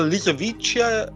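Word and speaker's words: Lisowicia: Well, Lysovischia, I think that's how you pronounce it.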